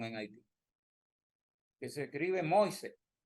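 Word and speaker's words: Moïse: Yo pensé que era muas como venua y ese ese haitiano es un haitiano estudiado me dijo que se pronuncia mois porque muchas palabras del francés la última vocal no se pronuncia bueno y a veces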